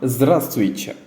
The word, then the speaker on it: здравствуйте: இங்கிலீஷில் நம்ம ஹலோன்னு சொல்கிறோம்ல, அதுக்கு நிகரான ஒரு வேர்டு தான் zdravствуйте.